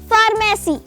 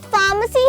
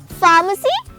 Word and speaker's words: pharmacy: से ले लो और शायद शायद हम सब भी इसको इसी तरह से प्रोनाउंस करते होंगे फार्मेसी जबकि यह फार्मेसी नहीं फार्मेसी है इसमें आर साइलेंट है और म और स साउंड को मिलाकर पढ़ेंगे फार्मेसी नॉट फार्मेसी अब तो अब्दुल्ला ने